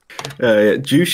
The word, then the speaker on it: Joosh: Joosh is how I pronounce it.